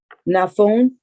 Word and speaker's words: Nafun: Nafun.